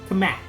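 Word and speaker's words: Cammack: Kamek. Ooh, Kamak.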